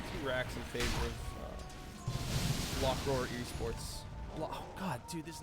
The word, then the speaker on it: Block Roar: You do think it's going to be Black Roar, isn't it? Block, or don't you? Roar, Spar, Spar. Oh, you mean the pronunciation? I just thought it was Black Roar for like a week.